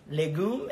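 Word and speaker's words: légumes: of asparagus soup mushrooms vegetables right in French are legume Lagoo is how you say vegetables in French Lily goop let me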